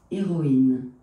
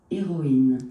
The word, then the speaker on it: héroïne: Okay, so yeah, so this is a very good example of a noun in which the masculine version begins with aspirated, meaning which the H has to be pronounced, whereas the feminine version of the same noun does not begin with H aspirated, it begins with H mute.